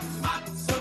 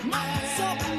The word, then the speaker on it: matzah: Matzah, matzah, matzah man, yeah. The shift from matzah to matzah means that in English the last syllable is not stressed and just reduces to schwa, that little sound.